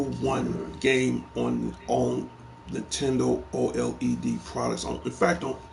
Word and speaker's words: OLED: had that for like the old LD OLED that's what it's pronounced it ain't been like